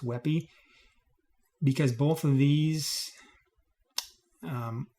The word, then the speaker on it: WebP: a wey it's called Web PE but it's pronounced wey because both of these um will always have